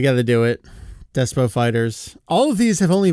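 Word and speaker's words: FighterZ: Despo Fighter Z is a manga about games. It's about Fighter Z, and... Hold on. It's Fighters. You pronounce it Fighters.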